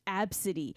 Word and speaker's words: ABCDE: about it was like it's ABCDE pronounced AB City okay if you have